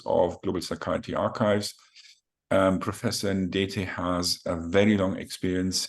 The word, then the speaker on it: Ndetei: I don't know how to pronounce it correctly, Ndetei, or how do you? Well, Ndetei, that's fine. You have done very well.